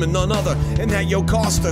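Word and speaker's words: Jocasta: none other and that yoke Oscar whose name rhymes with pasta Perry and her and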